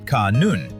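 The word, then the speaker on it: ขนุน: In Thai, jackf fruit is called canon, pronounced kanoon, a word that Thai families believe brings good fortune to their household.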